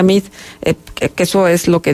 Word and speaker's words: Meade: decirle a la gente: no se asuste por mi apellido, porque aunque se escribe Meade, se pronuncia Mid, que eso es lo que dicen algunos de los anuncios.